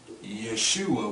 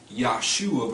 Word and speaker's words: Yeshua: Well, what you find is him called Yeshua, which I told you earlier could be pronounced Yahshua because this was originally wrote without vowel points.